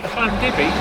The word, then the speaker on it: Llandybie: I would say Llandybie.